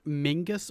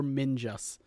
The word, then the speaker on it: Mingus: It is a hard G.